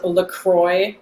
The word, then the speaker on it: Lacroicz: My Twitter is LaCroix, but spelled with like a Polish twinge because I'm Polish.